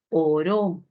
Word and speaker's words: oró: Si yo muevo la sílaba tónica y ya no es oro del metal precioso, entonces obtendré otra posibilidad, ¿cierto?